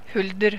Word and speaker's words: huldr: Or, you know, in Norway, a siren of the woods, sort of, is called Huldr. H-U-L-D-E-R, it's spelled. Huldr. Huldr. Or Huldr, as we say in Norwegian.